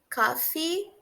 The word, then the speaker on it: coffee: Reparem que as duas letras E têm o som de I no finalzinho e a gente pronuncia eles de maneira longa.